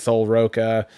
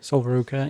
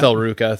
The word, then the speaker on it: Sol Ruca: You had Kairi Sane, was it Sol Roca? Is that how you say her name? Sol Ruca, yeah. Sol Ruca, thank you.